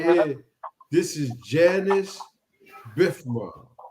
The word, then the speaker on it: Janus: not J no no I thought it was JN too it's Janice it's for January it symbolized the month of but anyway you could pronounce it like that if you want it could be junis too so yeah I'm telling